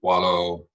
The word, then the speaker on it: Coelho: Today, we'll be focusing on another widely misinterpreted book, The Alchemist by Coelho. I pronounced it correctly.